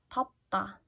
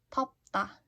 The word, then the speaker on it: 덥다: Let's try to pronounce them once more. 돕다. 돕다. Like 도와주세요. Please help me. 돕다. To be hot. 덥다. 덥다. 더워요. It's hot.